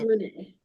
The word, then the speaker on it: Rena: It's pronounced Renee.